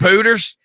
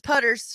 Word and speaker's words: Putter's: Wouldn't that be 96 Pooters? No, it's Putter's, It's a joke, Stephanie.